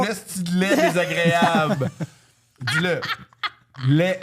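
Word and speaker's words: laid: Lait, L-A-I-D. On prononce pas le D, Zoé, c'est L-A-I.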